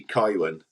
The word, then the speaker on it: Kaiwan: And I apologise, but it's actually Kaiwan, the name.